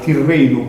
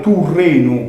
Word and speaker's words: Tirrenu: Se noi, ad esempio, narramo su mare Tirreno, come lo pronunziamo e narramo invece su mare Turreno, come deve essere pronunziato secondo le regole grammaticali del suo tempo, va una differenza manna.